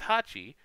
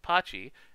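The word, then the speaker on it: 八: eights a lot because eight is hachi which can be uh pronounced pachi and the sound of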